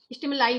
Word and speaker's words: stimuli: Okay, स्टिमुलाई बोल देंगे इसको, इसमें यू साइलेंट है, स्टिमुलाई इसको रीड करते हैं।